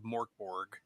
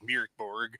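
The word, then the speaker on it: Mörk Borg: out of Morkborg, and I know I'm mispronouncing it because it's actually like Mirkborg or something like that. Mirkborg. I can't summon enough of my inner Swedish chef to do a proper pronunciation, but it is the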